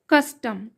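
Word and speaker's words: custom: होगा यूएस अस होगा टी ओ एम टोम नहीं होगा हां टम होगा यहां पे क का साउंड आएगा अ का टम ओ में अ का साउंड आएगा टम कस्टम कंटिन्यू एट आया यहां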